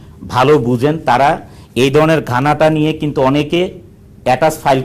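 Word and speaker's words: Ghana: বুঝেন তারা এই ধরনের গানটা নিয়ে কিন্তু অনেকে এটাচ ফাইল করে পাঠিয়েছেন যে রিয়েল উচ্চারণটা হচ্ছে গানা স্পেলিংটা হচ্ছে জি এইচ এন এ এটা হেইচ টা অলওয়েজ সাইলেন্ট থাকবে যখন উচ্চারণ করবেন তখন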